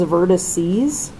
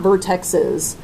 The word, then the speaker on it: vertices: So this is vertices. It's not vertexes. So when you guys see this, this is the plural for vertex. Vertices is how you say it.